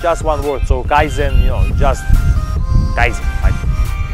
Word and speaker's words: kaizen: inside, a Japanese word, Kaizen. I'm not sure if I'm spelling it correct. It's like K and Zen, it's spelled K-A-I-Z-E-N.